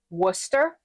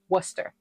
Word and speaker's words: Worcester: Worcester. Worcester. Like rooster with a W. Worcester.